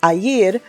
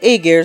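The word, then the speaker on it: Aegir: The name is based off of the personification of the sea and Norse mythology, pronounced Aayer, but the English VA call it Aar, so we'll stick to that.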